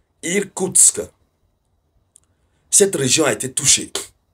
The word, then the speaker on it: Irkoutsk: Nous avons la région qu'on appelle Irkoutsk. Voilà. C'est difficile de prononcer. Irkoutsk. C'est pas Kursk, hein. Irkoutsk.